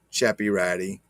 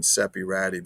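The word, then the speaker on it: Ceppiratti: logo chappy ratty and for those who don't speak italian val after the letter c is pronounced ch like church not that that some people do on their videos trying to talk stuff and saying sepirati because they're not because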